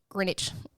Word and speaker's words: Greenwich: Greenwich. It's spelled like Greenwich, but you know how they are.